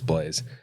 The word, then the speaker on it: Blaise: Yeah, it is Blaise. It is? Yeah, and that's a cool name, by the way. It is a cool name. It's not spelled like English Blaze, like fast, but it sounds the same.